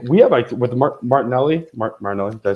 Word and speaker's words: Martinelli: But again, with the soccer, like we have with Martinelli, did I say it right? Martinelli?